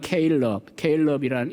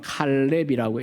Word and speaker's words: 갈렙: 오늘 본문에 나오는 이 갈렙, 영어는 케일럽이라는 이름 가진 분들이 왕왕 있어요. 미국에도. 히브리어로는 칼렙이라고 읽어야 되고요.